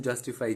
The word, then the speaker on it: justify: There are three syllables in justify, justify. So the stress is on just. Similarly, autocrat, there are three syllables, autocrat.